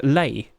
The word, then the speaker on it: lei: got the uh Hawaiian L what's how' you pronounce it it's uh Lei Hawaiian flower L you know it's the flower